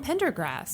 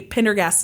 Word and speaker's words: Pendergast: it was huge well Tom Pendergrass yeah I totally mispronounced that last name he was believed to be Pendergast number one mroy was